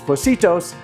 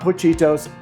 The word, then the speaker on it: Pocitos: But it is Pocitos, not Pochitos, and thank you for everyone who told me that.